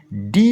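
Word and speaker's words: do: এনো নো এসো শো ব্যতিক্রম হিসেবে দুটো শব্দ রয়েছে ডিও ও ডু টি ও টু এখানে ও উচ্চারণ না হয়ে যাচ্ছে ও ব্যাস আমার এগুলো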